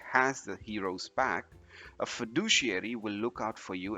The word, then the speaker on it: fiduciary: teamwork next we have this word which is pronounced as fiduciary fiduciary imagine you have a big important decision